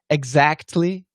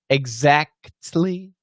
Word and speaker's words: exactly: too many consonants yeah actually perfect pronunciation exactly exactly all of them exactly and correctly correctly you should actually pronounce every one of those sounds however we talked about